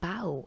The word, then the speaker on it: bough: something like that because it is spelled like b-o-u-g-h so i thought it would be kind of like though that word but it actually means